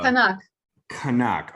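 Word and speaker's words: Qaanaaq: get the name right it's called uh kanak kanak okay by the way the first thing I noticed about kanak which is spelled qaa n a a q is that it's a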